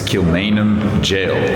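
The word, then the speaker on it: Kilmainham Gaol: It's Kilmainham Jail, even though it's spelled g o a l.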